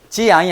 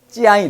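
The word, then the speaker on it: 江: 우리 발음은 장이에요. 장. 중국 발음? 장. 자, 이것도 일성입니다. 일성이기 때문에 성조가 어떻게 돼요? 성조가 일성이기 때문에 된 소리가 나. 된 소리. 지양이 아니고 찌양이 된다면 찌양.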